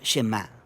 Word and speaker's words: Shema: es Oye o escucha Y en hebreo se pronuncia shemá de ahí es de donde viene el nombre